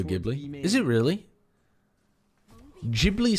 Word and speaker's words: Ghibli: It's pronounced Jibli. Studio Ghibli. Studio Gibli.